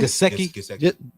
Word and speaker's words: Gesicki: Gesicki.